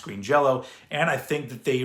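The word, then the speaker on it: Green Jellÿ: Also, this obviously, it doesn't exist in this form anymore because now they're Green Jello with a Y, but apparently it's still pronounced Green Jello.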